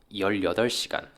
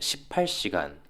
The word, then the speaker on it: 열여덟 시간: 18 giờ được đọc là "열여덟 시간" trong tiếng Hàn. 3 tiếng là "세시간" và 15 tiếng là "열다섯 시간". Bạn không thể nói "십팔시간", "삼시간" hoặc "십오시간".